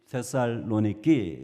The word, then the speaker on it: 데살로니키: 교회를 제가 잠깐 소개하겠습니다 데살로니가는 지금도 그 도시 이름이 데살로니키 현대 그리스로 그렇게 발음해요 지금도 옛날 주 1세기